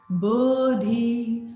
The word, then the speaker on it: bodhi: One point of pronunciation. Bodhi, bodhi. You get the dha.